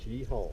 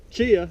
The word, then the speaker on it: Cheaha: Chi-haw. Chi-haw. Chi-haw. That's how you say it. Last time I said Chia on my last video and I got a little I got a review not to say that.